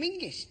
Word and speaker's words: Menzies: In fact, you should pronounce it John Mingus, apparently. It's to do with the defunct Scottish letter Zog.